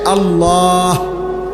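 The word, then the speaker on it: الله: শেষে আল্লাহ শেষে একটা গোল হা আছে ছোট হা আল্লাহ মানে আল্লাহু তো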